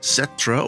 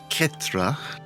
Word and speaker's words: Cetra: Cetra or Ketra, you can pronounce it either way, uh, is available on the special interest process for €119.